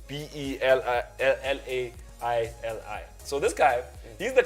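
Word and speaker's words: Belaïli: There's a player called Belaili. I'm not sure how to pronounce it. Belaili. That's how we spell it. It's Belaili.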